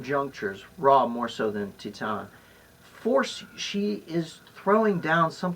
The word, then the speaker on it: Titane: All right, now, Titane. You got me to see Titane. Or and as I it's am. pronounced in French, Titan.